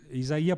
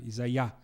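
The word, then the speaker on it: Isaiah: muito bem isaia Berlin isaí porque é é a pronúncia correta não é isaia Berlin não e o russo né como a gente sabe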